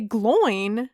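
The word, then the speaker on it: Glóin: They might say Gloin in the movies, and that's the pronunciation I'm going with.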